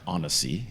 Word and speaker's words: Annecy: And where they wound up was a a very pretty lake in the mountains called Lake Anessi or Anesei if you look at the French pronunciation in uh YouTube.